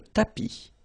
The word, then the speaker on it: tapis: Remember final S not pronounced. Le tapis, le canapé, la bibliothèque, la cuisine.